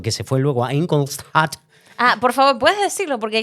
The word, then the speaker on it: Ingolstadt: que iba creciendo, que se fue luego a Ingolstadt. Por favor, ¿puedes decirlo? Porque es que yo lo leía y decía, ¿cómo pronuncio yo esto?